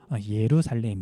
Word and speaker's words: 예루살렘: 예수님이 태어난 예루살렘 이에요 자기 j 라고 써있는데 묵음 이어 가지고 예루살렘 이에요 예루살렘 첫 번째 특징